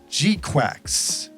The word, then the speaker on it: GQuuuuuuX: has pronunciation Ki and according to the pronunciation Ki here the title of the show is actually Gundam gqu G quacks really like Duck quacks woohoo okay let's go